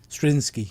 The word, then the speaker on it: Straczynski: Straczynski? Can't pronounce his name properly. Straczynski, yeah.